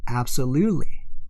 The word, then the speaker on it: absolutely: 자, T가 단어 중간에 나오면 영어는 거의 다 날려버려요. 그렇기 때문에 absolutely 이것을 날리고 ly 하는 거예요.